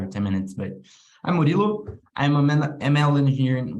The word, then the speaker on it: Murilo: don't know five or ten minutes but i'm morillo i'm a ml engineer in y labs i've